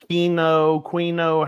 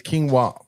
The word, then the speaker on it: quinoa: spelt uh kino quino, however you pronounce that. All kinds of different we say it the wrong way, too. It's quinoa.